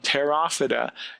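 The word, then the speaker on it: Pterophyta: second phylum is phylum tera vaada you will note that the P is silent these are the seedless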